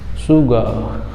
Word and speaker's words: sugar: रा साउंड जो है वो साइलेंट रहेगा, रा का प्रोनाउंसिएशन नहीं करेंगे वहाँ, क्या, शुगर, शुगर। मैंने बताया था कि जो लास्ट में ER या तो AR आए और या तो R आए तो उसका वहाँ प्रोनाउंसिएशन नहीं होता है, वो साइलेंट रहता है।